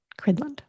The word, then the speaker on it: Cridland: Cridland is the way you say his name.